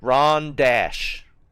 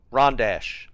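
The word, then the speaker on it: Rondache: Is that how you spell it? Wrong. Ron Dash. Rond Dash.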